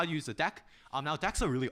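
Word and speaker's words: deque: and the deck um it's pronounced deck by the way don't say it's a dq um that is incorrect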